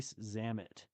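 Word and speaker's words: Zammit: familiar with Lis ree zamit no besides that it rhymes with Dam it Dam it Zam it well Dam yeah so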